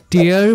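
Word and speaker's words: tear: কিছু টুকরো করা আর টি ই এ আর এটার উচ্চারণ যখন টিয়ার তখন এটার অর্থ চোখের জল ফর এক্সাম্পল বি কেয়ার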